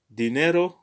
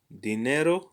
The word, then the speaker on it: dinero: the stress always accented so dinero dinero the accent is on ne and this is a